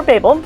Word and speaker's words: Babel: Yes, you can pronounce it Babel or Babel. Okay. Both ways are correct.